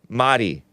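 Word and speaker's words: Mari: bye Marty in California m-a-r-i it's pronounced Madi she's like Spanish or something uh anyway let me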